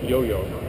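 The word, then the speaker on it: IOIO: his chosen Hardware board which is spelled Io Io but it's pronounced yo-yo which should be fun we've discuss the Arduino concept uh but we'll stick with the yo-yo for version one couple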